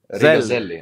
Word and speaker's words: Rīgas Zeļļi: Rīgas Zeļļi.